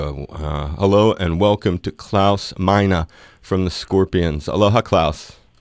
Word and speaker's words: Klaus Meine: hello and welcome to klouse mina from the Scorpions Aloha Claus hello Dave how you doing I'm very good and and is that the correct pronunciation of your name yeah perfect good making sure that's